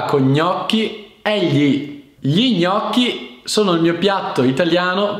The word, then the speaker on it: gnocchi: preferito ecco questa cosa gli gnocchi è uno dei suoni più difficili per molti stranieri che imparando italiano perché gli gnocchi quindi tranquilli praticate con calma che riuscirete un giorno pronunciarlo senza problemi aiuto aiuto ho bisogno